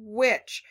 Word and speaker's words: which: Which parts of which are tricking you? Let's listen. Wuh, I hear that. Do we hear a h? No. Do we hear an I? Yeah.